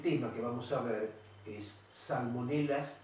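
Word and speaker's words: Salmonella: genio sal con ella se escribe están con ella con doble y se pronuncia salmonela por qué motivo se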